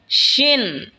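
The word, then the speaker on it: شين: এরপর হলো শিন। শিন জিহ্বার মধ্যখান তার বরাবর ওপরে তালের সঙ্গে লাগা উচ্চারণ হবে শিন।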